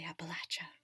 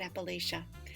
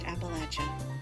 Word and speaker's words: Appalachia: you all understand that people from Appalachia say Appalachia not Appalachia and if you take nothing else away from this which I sincerely hope isn't the case it is that it is pronounced Appalachia thanks you guys for